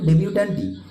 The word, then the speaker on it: debutante: এবার ফিমেল পার্সনদেরকে যে শব্দটা ইন্ডিকেট করে সেটার প্রোনাউন্সিয়েশনও কিন্তু ডেবিউট্যান্টই, কিন্তু ডেবিউট্যান্ট বানান যেটা আমরা মেল পার্সনদের ক্ষেত্রে পড়লাম, ফিমেলদের ক্ষেত্রে জাস্ট একটা এক্সট্রা বসবে।